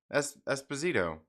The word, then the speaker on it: Esposito: I'm not for sure, but his name is Giancarlo Esposito, and that rhymes with Magneto.